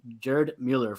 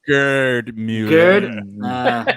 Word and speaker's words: Gerd Müller: Rossi, Luis Suarez, and Gerd Müller for most. Hold on, you said it wrong. It's Gerd Müller.